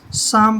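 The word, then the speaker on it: psalm: है तो यह बनेगा पी छोड़ देना हमने साइलेंट रखना है इसको शाम पढ़ेंगे इसको शाम शाम होता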